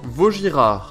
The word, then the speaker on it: Vuitton: So, niresearch ko kung paano siya i-pronounce. So, check nyo na lang din guys. Vuitton.